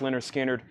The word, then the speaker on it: Lynyrd Skynyrd: you on this super duper nice copy of pronounced Lynyrd Skynyrd it is a 73 MCA press high bid is with Michael Mcdowell at 50.